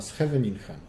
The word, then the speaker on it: Scheveningen: To zmienili nazwę na Scheveningen. Co prawda po rosyjsku to było Scheveningen, dlatego że Rosjanie nie mają literki H, mają G, a z kolei holenderskie G czyta się jak H, więc po rosyjsku zawsze będzie G.